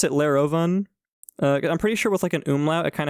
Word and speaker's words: Lerovun: syllables it was Lair uh so and I pronounce it laroven uh I'm pretty sure with like an umla